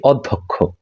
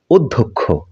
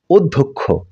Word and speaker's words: অধ্যক্ষ: এটিকে আমরা বলে থাকি অধ্যক্ষ এটি কিন্তু ভুল উচ্চারণ শুদ্ধ উচ্চারণ হচ্ছে অধ্যক্ষ অধ্যক্ষ ধ বর্ণটিকে আমরা দ এর সমন্বিত রূপে উচ্চারণ করব এরপরে যে আমরা বর্ণটির